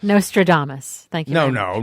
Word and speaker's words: Nostradamus: Apple pen as no can't say it right Nostradamus thank you no no not as nostram the